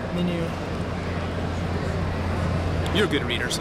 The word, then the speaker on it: MiNew: this is uh the my new empador I see my new but if everything's menu or something menu okay I like to get the pronunciation right here menu you're a good reader